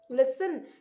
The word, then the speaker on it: listen: Listen, listen. So yahan T, listen. T is silent.